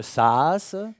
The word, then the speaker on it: SaaS: Alors, vous êtes vous-même directrice de CréaJob, qui est une SaaS. Tout à fait. Je prononce bien. Oui, SaaS.